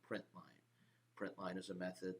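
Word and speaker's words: println: system dot out dot print line the print L n is pronounced print line and have my opening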